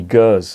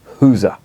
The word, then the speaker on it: Gueuze: have you got any girls and he what are you talking about girls never heard of it he must have done but he wanted me to pronounce it the Flemish way it's a you know